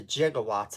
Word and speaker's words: gigawatt: doc brown refers to gigawatts of electricity um this is actually from an obscure a little measurement of electricity that was called gigawatt nowadays it would be pronounced with a hard g you know however it's